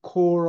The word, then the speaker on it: corps: Assisted by the newly recruited core of 117 evangelists. core는 발음을 잘해야 돼요. core. core 하면 집단이란 뜻이에요.